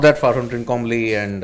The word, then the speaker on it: Trincomalee: not that far from Trincomalee and.